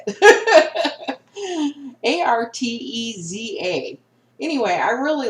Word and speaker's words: Arteza: These are Artesia. Artez? How do you say it? Arteza.